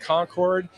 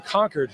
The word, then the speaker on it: Concord: town this is conquered it's spelled Co NC Rd so it looks like Concord but it's actually conquered New Hampshire and and